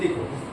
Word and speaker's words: the: तो देखो, अगर मैं THE की बात करूं तो THE के बाद अगर कॉन्सोनेंट साउंड वाला कोई वर्ड आया तो THE को हम द कहेंगे।